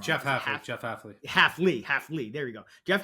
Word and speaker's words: Hafley: I always say his name wrong. Jeff Hafley.